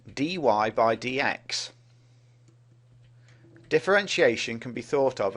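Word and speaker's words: dy/dx: derivative which is written like this and is pronounced Dy by DX differentiation can be thought of as the study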